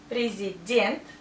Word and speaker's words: президент: Президент. Stress here. So we pronounce ye like ye. And this ye sounds like I.